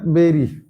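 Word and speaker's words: bury: এখানে এইযে এর উচ্চারণ কিন্তু উচ্চারণ হবে বেরি। এটা কিন্তু বুড়ি না। হয়ে গেল। এর উচ্চারণ বাড়ি বা বুড়ি নয়।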